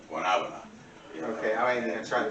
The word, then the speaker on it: guanábana: You know, it's actually pronounced in Spanish guanábana.